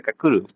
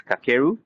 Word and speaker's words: Kakeru: His name is Naruse Kakuru. I'm sorry, it's Kakeru or it's the pronunciation of obviously in Japan.